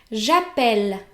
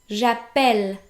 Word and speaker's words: j'appelle: As in that case, the E is pronounced like the E in the English word bed, j'appelle, and not j'appelle.